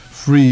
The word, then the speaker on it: Phre: languages ancient nutrition names free is spelled p h r e and that's free i'm doing that kind